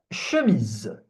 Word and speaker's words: chemise: Une chemise, une chemise. Une chemise. So you see there is CH here, I'm not pronouncing it ch, it's ch.